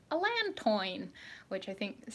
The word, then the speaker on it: allantoin: I have been called out for pronouncing allantoin wrong many, many times because the sort of basic French education I have from growing up in Canada makes me want to say allantoin.